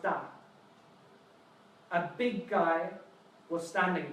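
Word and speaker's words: 大: We have the shape, the meaning, we have the pronunciation, da like Darth Vader, and which tone is it?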